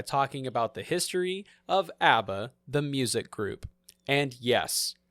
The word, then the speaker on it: ABBA: to start by talking about the history of ABBA the music group and yes I looked it up that is how it's actually pronounced I found a video it's the original